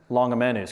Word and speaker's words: Longimanus: So I consulted the expert on how to pronounce Longimanus, because that's actually a Latin word. It stands for long-handed, and he said probably Longimanus.